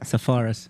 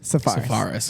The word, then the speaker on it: Tsafaras: Tsafaras. Tsafaras. Okay. Like a safari.